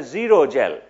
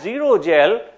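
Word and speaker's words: xerogel: are left with is called a zero gel zero spelled with an X okay so that's zero gel short emission had had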